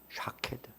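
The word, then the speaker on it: שָׁקֵד: 봤다고요 살구나무를 받다고 했잖아요이 살구나무를 원어 발음은 샤드라 한답니다 샤케드 살구나무를 샤드라 부르는데요 그런데이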